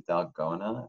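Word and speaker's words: dalgona: I guess favorite I've recently been exposed to delgona that's how you pronounce it so I've made that a couple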